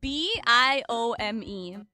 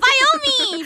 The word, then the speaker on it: biome: Minecraft before yeah okay there's a word where I know how to pronounce it but I still purposefully pronounce it wrong because it's nicer that way uh okay b i o m e say it biome biom